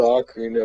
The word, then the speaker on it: ocarina: number one is zelda ocarina of time okay before we go any further is it ocarina or ocarina ocarina it's not ocarina it's not spelled o-a-k it's spelled o-c it's really fun uh